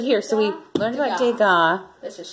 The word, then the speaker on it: Degas: But here, so we learned about Degas. Let's just say Degas. Because the S is silent.